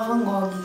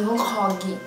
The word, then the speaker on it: Van Gogh: Ah, e uma coisa que eu aprendi, não se fala Van Gogh, se pronuncia Van Gogh, porque é holandês.